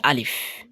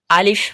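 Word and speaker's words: ألف: প্রথম যে বর্ণটি রয়েছে এই বর্ণটির নাম হচ্ছে আলিফ। আমরা অনেক সময় আলিফ বলতে গিয়ে আলিফ বলে থাকি। আলিফ বললে উচ্চারণটা সঠিক হবে না।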